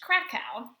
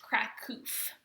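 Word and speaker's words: Kraków: This word right here, Krakow, that's the city that our author lived in during this time. And it looks like it would pronounced Krakow, but it's actually pronounced Krakow.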